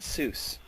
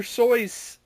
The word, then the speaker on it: Seuss: It's not Seuss. Is it Seuss? It's soy sauce. I can't say Dr. Soy's Cat in the Hat.